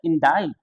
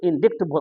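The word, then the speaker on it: indict: यहां देखेंगे इन इनडायरेक्ट तो आप पढ़ लीजिएगा इनडायरेक्ट जबक होता है सी साइलेंट होता है इसे बोलते है इंडा इंडा आरोप लगाना आरोप लगाना इसे बोलते हैं इंडा जबक कोई भी लोग बहुत सारे लोग जो है उसे इंडिक्ट पढ़ते हैं जो गलत है या इंडिक्ट पढ़ेंगे या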